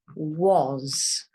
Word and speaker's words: was: Now this word is a strange one because this A here says a different sound completely. It says an O sound. So this word actually says was.